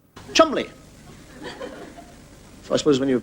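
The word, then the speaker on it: Cholmondeley: I mean this you get a name like ch mandley not pronounced CH mondly Chumley so I suppose when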